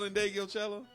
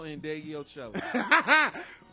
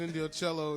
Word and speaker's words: Ndegeocello: You've never heard of Michelle Ndegeocello? Say that last name again. Michelle Ndegeocello. Are you sure you're pronouncing it correct? I'm 100% positive. Never heard of. I thought it was Indio Cello or some shit.